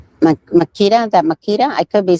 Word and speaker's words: Makita: Is that Makita?